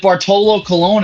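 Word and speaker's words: Bartolo Colón: so correct me if I'm wrong is it Bartolo Colon is that how you pronounce it yes okay uh he officially retired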